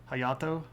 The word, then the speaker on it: Hayato: So, uh, one of the things about Japanese syllables is that usually it's a consonant sound and a vowel sound. Uh, and vowels stand by themselves and Y doesn't act like a vowel. So, it's hayato.